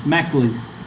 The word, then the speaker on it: McAleese: He pronounced his name McAleese. McAleese.